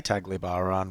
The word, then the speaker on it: Tagbilaran: I say Tagbilaran right through this video. It's actually Tagbilaran.